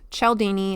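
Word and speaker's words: Cialdini: It's called Influence: The Psychology of Persuasion by Robert Chelini. It's spelled C I A L D I N I.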